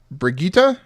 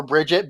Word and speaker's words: Brigitte: Brigitte? Brigitte. Brigitte? Yes. Is it not Brigitte? No, It's that's what it Brigitte. It's Yeah. the German pronunciation, apparently. yeah. So I'm still going to call her Bridget because I'm not saying